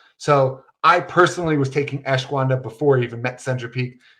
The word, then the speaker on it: ashwagandha: I cannot pronounce the name of this supplement. My wife makes fun of me all the time. It's ashwagandha.